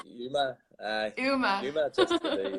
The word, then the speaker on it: UAMMA: Are you just saying UAMMA or UMA or Sounds a bit like your ma, but it's UMA? Yuma.